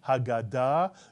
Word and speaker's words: Haggadah: If you said Haggadah, with the accent on the last syllable, Haggadah, you are correct. By the way, we're used to calling it the Haggadah, but it's actually Haggadah in Hebrew.